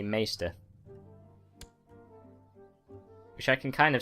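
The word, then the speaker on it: Maester: I always said Meister because, you know, well, Maestro is pronounced Maestro, as you might have expected. So I always assumed Meister was pronounced Meister, but on the TV series, at least, they say Meister.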